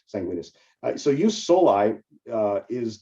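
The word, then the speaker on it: jus sanguinis: principles use soli and use sanguinus and that's spelled Jus and then s oi and use Jus and then sanguinus uh s n guu i n i s sanguinus so you solai uh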